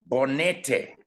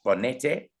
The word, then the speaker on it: Bonete: Bonete is the correct pronunciation of number 8. Bonete. It is Spanish, and it means a mountain in the Andes in Argentina.